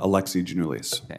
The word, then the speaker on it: Alexi Giannoulias: do you say your name Sir Alex uh Alexi genoulis Alexis I want to see if I got